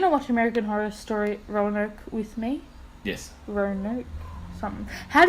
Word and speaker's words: Roanoke: Are you going to watch American Horror Story Roanoke with me?